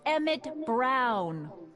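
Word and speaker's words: Emmett Brown: bill to a te that's EMT Brown rhymes with clown which I'm beginning to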